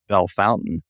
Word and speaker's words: Bellefontaine: way, but it's pronounced Bellefontaine. Which, I guess it's Americanized is what it is.